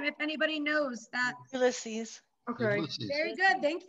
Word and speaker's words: Ulysses: President Ulysses S. Grant. I cannot pronounce his first name if anybody knows that. Ulysses.